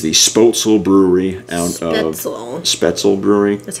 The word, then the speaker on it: Spoetzl: Spoetzl Brewery. That's how it's pronounced.